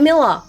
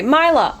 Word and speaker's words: Mila: Oh, it's Miler. Oh, not Miller. I'm so sorry. I've been saying Miller. I'm so sorry, Mila.